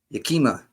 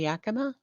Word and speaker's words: Yakima: Yakima. That's how I used to pronounce it, but it's been Yakima the whole time.